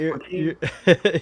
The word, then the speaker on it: poutine: Just, I think that's pronounced poutine, but Yeah. Papusa poutine. How do we say it? Oh, you got poutine.